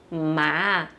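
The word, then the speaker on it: 吗: E aproveitando a pronúncia, o fonema do ideograma ma, para a gente ter o ideograma para a partícula interrogação, que também se fala ma, tá bom?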